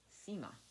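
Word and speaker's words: nsima: form of porridge called sema but spelled n-s-i-m-a so the n is not pronounced to make extra money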